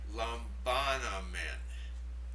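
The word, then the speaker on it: λαμβάνομεν: The first word is pronounced lambanamen. Lambanamen. Now notice the 4 vowels there. The alpha, alpha, omicron, epsilon. 4 vowels, 4 syllables.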